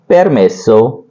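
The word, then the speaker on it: permesso: यह सब चीजें हैं परमे सो तो इसको बोलेंगे पेर मेसो पेर मेसो उच्चारण आपका सही होना चाहिए इस पर विशेष ध्यान दीजिए शब्दों को है वह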